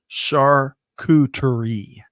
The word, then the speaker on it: charcuterie: Catherine says she's helping me with my pronunciation. Charcuterie.